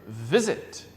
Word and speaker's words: visit: So like this verb, visit. It's not visit. Not visit, it's visit. The stress is in the first word, first syllable. Visit. Visit. Yeah, not visit.